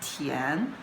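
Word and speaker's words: 田: now let's look at it, Li, this character is combined with this part, which pronounced as Tian, and this part, which pronounced as Tu.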